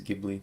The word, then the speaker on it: Ghibli: Ghibli, it is Ghibli. Well, I like their movies, as much as I can't pronounce their name.